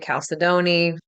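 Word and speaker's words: chalcedony: of the wonderful Stones the way I pronounce it Cal cidney that can be a stone that works really well some people say Caledon I say Cal cidney you can also look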